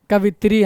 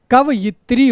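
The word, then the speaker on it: कवयित्री: इसका तो हम उच्चारण करते हैं अधिकतर। कवित्री हैं। क्या करते हैं? कवित्री। और होता क्या है? कवियत्री होता है।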